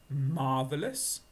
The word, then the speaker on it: marvellous: is a very good one in fact it's marvellous marvellous two sounds listen again marvelous that's marvelous